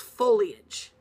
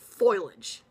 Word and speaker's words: foliage: not a word and the word fo IL a GE is foliage not foilage I've heard it pronounced foilage its foliage people you know the leaves